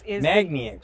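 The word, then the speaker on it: magniX: Magna X.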